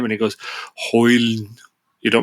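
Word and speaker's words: Højlund: Even the penalty on Hoyle, how we pronounce it? Hoyle. Rasmus Hoyle. You don't pronounce that last D or something.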